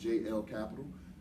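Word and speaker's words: Jelle Capital: left the capital of Jay e ll it's pronounced jl capital and look up all of the different products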